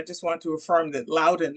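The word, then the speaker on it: Loudoun: want to affirm that Lowden is the way it's pronounced it's where dullas airport is so if you don't know anything else you've probably heard of dullas airport so absolutely yes so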